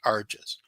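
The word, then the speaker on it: rJis: small I small s so it's pronounced Ares Ares appeared to me one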